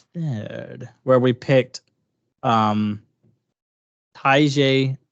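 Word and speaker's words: Tyjae: where we picked um Tai I've heard Taj but I also heard ta it's it's spelled ta but most people to say Taj Taj Spears who had uh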